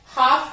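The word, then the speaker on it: half: हाफ विच L silent है, चौक विच भी L silent है, आर विच एच साइलेंट है और वॉच विच टी साइलेंट है।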